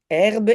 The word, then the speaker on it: herbe: Donc marche c'est un verbe e e s e sur son herbe et herbe donc on ne prononce pas la h mais la h est là.